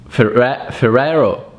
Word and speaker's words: Ferrero: Now let's go with the number two, which is Ferrero. Ferrero. It's not Ferrero, it's Ferrero. Ferrero. Ferrero.